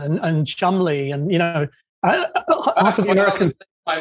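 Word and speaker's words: Cholmondeley: anyway well it's names like sinjin and and chumley and you know after my mother's maiden name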